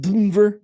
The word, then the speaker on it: DNVR: Well, that's how it's spelled. Denver. Denver. Yeah. They took out both of the E's.